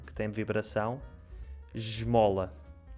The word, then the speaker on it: esmola: Fica j, como ao som do J. Esmola. No Brasil é mais simples. Como é que é no Brasil? Na maior parte do Brasil. Então, na maior parte vai ficar o S mais comum, né, digamos assim, né?